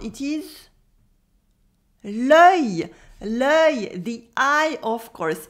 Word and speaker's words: œil: It is l'œil. L'œil, the eye, of course. And here it is even spelt with le dans l'eau.